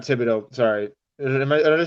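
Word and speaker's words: Thibodeaux: You think you have to obviously take your pick between Thibodeau and or not Thibodeau.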